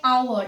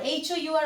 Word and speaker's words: hour: Now you have seen like hour, H-O-U-R, hour, we don't say hour because H is silent, like honest, air, begin with a vowel sound.